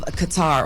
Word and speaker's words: Qatar: the royal family of Qatar or cutter. It depends on how you pronounce it based on where you are in the world.